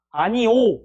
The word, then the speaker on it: 아니오: 그래서 이제 아니오 하면 어때요? 아니오죠? 그럼 발음은 당연히 뭐가 맞아? 아니 5가 맞죠? 오케이. 근데 뭐도 허용이다. 아니 요도 허용이다.